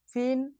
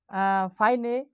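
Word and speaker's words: fine: উচ্চারণটা হচ্ছে কি ফাইন, কিন্তু আমাদের দেখতে মনে হচ্ছে এফ আই এন ই ফিনের মতো হবে, কিন্তু আসলে ফিনে না, এটা হবে ফাইন। কারণ কেন, I plus consonant plus E থাকলে আয়ের মতোই উচ্চারণ হবে, যার কারণে আমার উচ্চারণটা হচ্ছে কি ফাইন।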